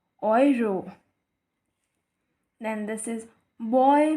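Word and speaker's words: Euro: वाई ओय for example it's नॉट यूरो इसे हम कहते हैं यरो ई यू को ओ वाई से रिप्लेस करेंगे और यह बनेगा ओयरो देन दिस इज बॉय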